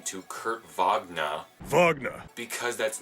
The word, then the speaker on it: Wagner: Wagner. Because that's not how it's pronounced.